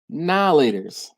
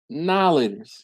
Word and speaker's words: Now and Later: I, being from Philadelphia, we call them, y'all ready for this? Nowlators. Nowlators. Because they're now and later. But nobody says now and later.